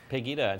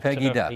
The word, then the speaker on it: Pegida: Is it Pegida? Is that how they say it? Pegida. Pegida.